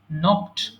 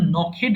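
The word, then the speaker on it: knocked: নখ, নকড, নকড। এটা কিন্তু নখেড হবে না, এই জন্য উচ্চারণটা আমি পাশে লিখে দিয়েছি।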